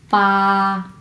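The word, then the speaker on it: 八: এইটকে আমরা বলবো হচ্ছে পা, পা, পা, পা। এটা আবার বা বা কেউ বলবে না, এটা কিন্তু বিয়ের উচ্চারণ নয়, এটা হচ্ছে পয়ের উচ্চারণ, পা।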